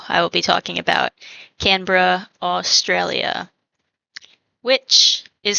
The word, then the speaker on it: Canberra: Like, Yeah, but so it looks like Canberra, which is the very, I feel like, American way to say it, Canberra, but it's actually Canberra.